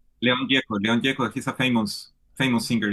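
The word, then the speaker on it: León Gieco: How did you pronounce that? Leon. Leon Geko.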